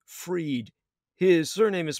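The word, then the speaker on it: Freyd: memory syndrome foundation was founded by Peter J freed his surname is spelled F r ey d he founded the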